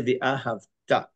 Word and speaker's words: ve'ahavta: The most common mistake in all of the people reading Shema, and that's this word ve'ahavta. It is not ve'ahavta. Most people, unfortunately, pronounce this word ve'ahavta. Ve'ahavta means and you loved Hashem. You must say ve'ahavta, milra, meaning the accents on the ta.